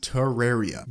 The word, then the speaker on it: Terraria: accessories Terraria name orange the official pronunciation of the popular title is Terraria due to it being based off the word terrarium along with this when